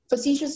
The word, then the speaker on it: facetious: Facetious is the only pronunciation.